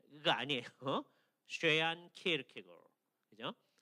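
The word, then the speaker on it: Søren Kierkegaard: 발음을 어떻게 하는 거냐면 쉐얀 키에르케고라고 해야 됩니다. 그렇죠? 이게 발음을 제대로 하는 사람이 드물어요. 서양 사람들은 키에르케가 이렇게 발음을 많이 합니다. 그죠? 예. 근데 덴마크 사람들이 키에르케고 그게 아마 제일 가까운 것 같아요.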